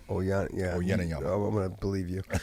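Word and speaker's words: Uyenoyama: Oyeniyama. Oyeniyama.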